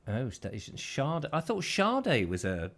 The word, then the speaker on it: Sade: David, pronounced Sade. Oh, Sade.